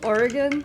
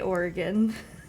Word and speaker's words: Oregon: No, Salem, Oregon.